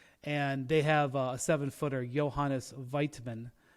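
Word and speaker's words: Johannes Voigtmann: they have a seven-footer Johannes weitman I think is how you say it um is their starting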